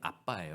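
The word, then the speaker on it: abba: 주실 때 아바라는 사실은 아바가 아니라 원래 발음이 아빠예요 아빠 이게 아람어 아람어 그 a BBA 이게 원래 아람스 아빠예요 우리가 하는 한국말과 똑같아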